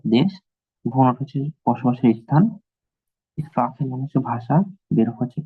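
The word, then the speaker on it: sprechen: এটা কি বলেন তো, উচ্চারণটা কি হবে? রাখেন। স্প্রাখেন, গুড। স্প্রাখেন, স্প্রাখেন মানে হচ্ছে কি ভাষা।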